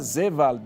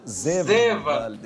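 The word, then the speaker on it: Seewald: era americano, Peter Seward, mas ele é alemão, então a pronúncia é Peter Seward, né? É isso mesmo, professor? Isso, Peter Seward.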